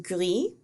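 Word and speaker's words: gris: pronounced the same way the masculine form is pronounced gri with a silent s and the feminine form is pronounced griez with a pronounced s and the plural is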